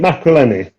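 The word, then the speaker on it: Maccarinelli: when you beat Macreleni, that's how you pronounce it.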